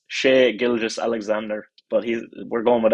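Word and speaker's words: Shai Gilgeous-Alexander: anybody else that wants the full pronunciation it's sh gilgas Alexander but he's we're going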